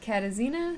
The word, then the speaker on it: Katarzyna: This is the story, the tragic story of Katarzyna Zawada. I had to like phonetically spell that out for myself because there's a silent R in that name.